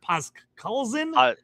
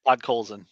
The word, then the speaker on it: Podkolzin: Donato, was it Pascalzin? I always say his name. Podkolzin. Yeah. Podkolzin, and then Graf plus 11,492 for long shot parlay of each of those guys.